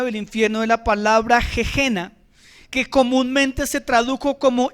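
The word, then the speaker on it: gehenna: infierno de la palabra jejena, que comúnmente se tradujo como infierno. Se escribe gehena con h intermedia y con doble n.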